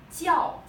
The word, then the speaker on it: 叫: This initial pronounced like 鸡. 叫 fourth tone.